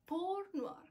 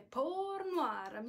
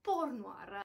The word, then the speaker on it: Portnoy: ho detto porno hard sì avete sentito bene pur noir pole ma ripetiamo tutti insieme porno armi sembra di essere in quella scena di bastardi